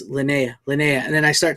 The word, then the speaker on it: Linnea: uh like I said it's Leanna lynnea quickly I keep saying her name wrong so I always say Leanna it's Linnea Quigley so no wonder she